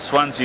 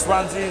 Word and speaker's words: Zwanze: It's spelled Z W A N Z E. uh and pronounce Swansea, Swansea, Swans, wherever you're from or or however badly you read.